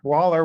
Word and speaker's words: Woller: here with or waller waller i keep saying your name wrong sorry it's okay just think of the wall and then yes thank